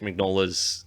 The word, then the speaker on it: Mignola: The elves and the Golden Army do not appear in Mike Mignola's comics.